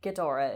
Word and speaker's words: Ghidorah: pronunciation in english yes the way it's spelled like with the g and the h together like ghidorah is perfectly like that's what they were going for yes and what language